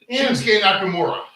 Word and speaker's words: Shinsuke Nakamura: Shinsuke Nakamura.